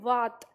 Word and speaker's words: वात: तो हमने लिखा बात और हम इसका उच्चारण करेंगे वात तो दोनों में अंतर हो जाता है देखो बात और वात में अंतर हो जाता है वात का मतलब होता है हवा ठीक है हवा और बात का मतलब आपस में बात करना दोनों में अंतर आ रहा है अर्थ में अंतर आ